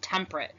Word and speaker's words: temperate: zones and I think if you look at that word really close it looks like temperature but it's pronounced temperate and these are between